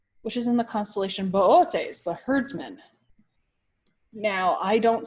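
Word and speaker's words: Boötes: next to the constellation Bootes and the reason being why I call it Bootes and not booties is because one of the O's on the constellation has in Laos now if I accidentally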